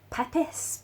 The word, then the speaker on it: Pepys: His name is spelled Pepys, but it's pronounced Pepys, I promise.